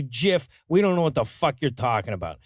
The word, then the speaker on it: GIF: issue comes up the guy who invented it pronounces it jiff says one side that's a peanut butter says the other when G's or C's are followed by an i or ii they're usually pronounced as soft says one side